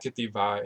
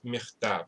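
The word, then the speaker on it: מכתב: That's how you say it. It's not ketiva in Hebrew, it's michtav, right?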